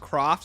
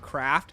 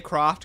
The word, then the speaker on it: Croft: It's pronounced Croft, not Craft. It's kind of both. They say Croft, Craft. It doesn't matter. Whichever one you feel like is better to say.